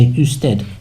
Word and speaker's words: usted: And if you want to be super polite and you want to get someone's attention, you could say usted, and that you has a u sound in Spanish, which sort of means sir or madam.